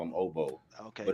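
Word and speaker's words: Ogbo: Oh, hey, it's Obo Okoronkwo. Now, how you pronounce his actual real first name, I don't know, but he just goes by Obo for his first name.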